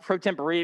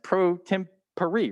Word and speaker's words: pro tempore: will notice i didn't stutter i did say pro tempore i did some research and as it turns out we've actually been pronouncing it wrong the whole time uh it's latin it's pronounced pro temporary means temporarily uh for example like how the